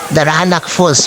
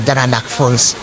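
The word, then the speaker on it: Daranak Falls: puntahan na itong ah the ranak fools pala guys yun ang pronunciation nila nasanay kasi ako sa tao na daranak fools ah batlog fs meron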